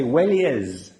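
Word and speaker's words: Welleyes: which they called, and it's impossible to pronounce, but the Italians say Wellies. Yes. And it's the two English words, well and yes, with an E in the middle.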